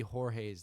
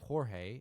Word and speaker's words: Jorge: it was just like the Spanish version of George, and that's Jorge is the name. Yeah, And then I met a few people that it's spelled Jorge, but they they go, by George.